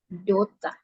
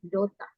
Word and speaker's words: daughter: Jadi daughter, cara bacanya itu ini ya. Dota. R-nya tuh agak hilang. Dota.